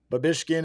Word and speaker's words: Babischkin: But it's spelled exactly like it sounds. Yeah. So I feel like Babischkin. Babischkin is actually little bit harder.